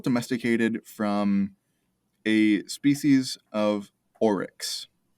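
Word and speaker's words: aurochs: cows were domesticated from is called oryx a-u-r-o-c-h-s that's not even close english is a weird language um but for whatever reason they are pronounced the same to the best of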